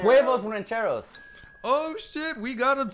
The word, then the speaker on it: huevos rancheros: He totally mispronounced the fuck out of this. Oh, it's Javanero. Huevos rancheros. Oh, shit. We got a steal. Oh, Cody's coming out on top. Huevos rancheros.